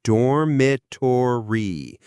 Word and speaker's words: dormitory: And the pronunciation again is dormatory.